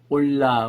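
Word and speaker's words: עולה: 번제단은 이제 히브리 말로 번제 그럴 때 올라, 우리 한국말이 올라간다 할 때 올라와 발음이 같습니다.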